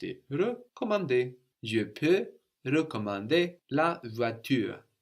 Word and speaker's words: recommander: je peux recommander la voiture, And the RE of to recommend, it's just a normal E. It doesn't have an accent written over it. So how should that sound, to recommend?